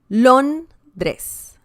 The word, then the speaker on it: Londres: Londres. Londres. Londres. And that means London. Once again, we can see the stress on this syllable.